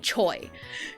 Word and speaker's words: Choi: They're fairly chill about the the surname ch because it it's pronounced ch in Korean, but they're okay with saying choi cuz like that's how it's romanized.